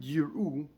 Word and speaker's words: יראו: the Aleph is Nocha, the Aleph is silent, the Aleph is not pronounced.